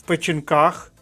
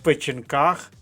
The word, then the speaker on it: печінках: 1В дивимося наступний фразеологізм в печінках наголос на останньому складі сидіти ще раз в печінках сидіти тобто комусь добряче